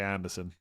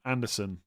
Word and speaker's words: Anderson: As long as you say it with Sen and not son. Anderson. Anderson.